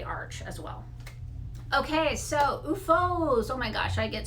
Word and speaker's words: OOFOS: asked all the time how do you pronounce it it's ufo and the this is